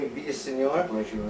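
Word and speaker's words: Villaseñor: is Ian Troy and we're here with vior did I say your last name right yes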